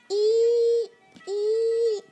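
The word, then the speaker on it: 一: this is number one the pronunciation is like this e e the writing is like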